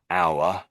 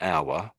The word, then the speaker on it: hour: One is hour. Whoops. This word. So these two words here, we don't say. The H happens to be silent, but most of the time we pronounce the H when it's at the front.